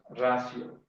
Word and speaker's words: ratio: Ratio. Recuerden, la sílaba ti delante de vocal se pronunciamos sí, ratio. ¿Sí? Bueno, si nosotros queremos seguir la pronunciación castellana del latín.